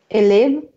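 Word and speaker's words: élève: Эми. Первое читается как аи, а читается как потом элев. Четче элев, прямо вот рот Элев. Элев, или даже элев.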